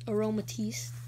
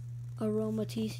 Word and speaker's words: Aromatisse: I actually had a problem pronouncing this. The first time I actually saw the name. But I figured it out now that it's Aromatisse. Aromatisse, yeah.